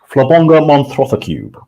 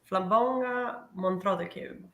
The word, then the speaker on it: Flabonga Monthrothacube: I pronounce it Flabonga Monthrothacube. Flabonga Monthrothacube.